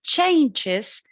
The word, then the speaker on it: changes: The thing is that I have chosen an exception. Changes sounds the same, used both as a noun and as a verb. It has the stress on the same syllable, on the first one.